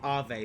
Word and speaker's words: Avé: Yeah, also do apologize in advance if I accidentally say Ave Maria. It's actually correctly pronounced Ave, but, the spelling of the word confuses me sometimes.